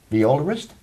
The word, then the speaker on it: violist: composers, the instruments, because you worked in orchestras in Canada and in Holland as a freelance violist.